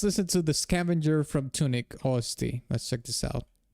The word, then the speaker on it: Tunic: Where I'm saying tunic. I say it like with an O, tonic. No, it's not tonic, it's tunic. Okay, is this the song that you want me to do, Jonathan?